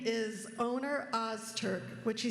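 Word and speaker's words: Öner Öztürk: His name is Oner Ozturk, which he said is pretty close to the correct pronunciation.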